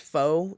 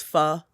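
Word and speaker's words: phở: spelt p h o that's actually not pronounced foe even though everyone says that it's pha so hence the play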